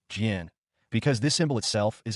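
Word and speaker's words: GEnx: Let me explain to friends just getting into civil aviation why it's pronounced GN because this symbol itself is a hyphen minus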